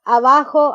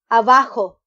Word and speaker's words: Abajo: in the chat Arriba Abajo al Centro adentro okay Arriba s1 Arriba Arriba is up up okay ah Baku is down I've had that pronounced again Abajo Abajo Abajo there you go and then we go